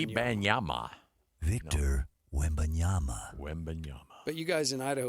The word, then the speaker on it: Wembanyama: Just as a refresher, it's not Wembanyama. It's not Kumbayama or Wembanyama. I mean, it is is simply Wembanyama. Wembanyama. Victor Wembanyama. Wembanyama.